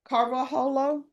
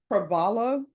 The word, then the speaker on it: Carvalho: Gabriel Carvajalo. I know I mispronounced that. How do you pronounce that? Carvalho? Gabriel Carvalho. Carvalho? Carvalho? PR? Carvalho? That H is silent? Yes. Oh, okay.